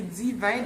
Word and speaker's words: D-Vine: Je vous dis, c'est Divin. Maintenant, je vais comprendre ce que ça veut dire. Ça s'écrit Divin, donc le chiffre 10, traduisons V-I-N-S, et c'est divin comme divinement, comme Dieu, etc.